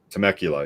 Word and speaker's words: Temecula: Yeah, I figured you got it from, I don't know if I'm pronouncing it right, but Temecula, the town. Oh, Temecula? Temecula, yeah.